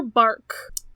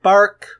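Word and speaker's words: barque: yeah it's it's a a solar bark is is that how you pronounce that it's got a q in it I don't like that word spell please b a r q u e I don't like that word that looks weird bark bark barge yes also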